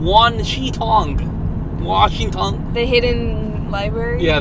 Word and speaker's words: Wan Shi Tong: I've been struggling to pronounce his name. Washington? I keep wanting to say Washington. Wan Shi Tong.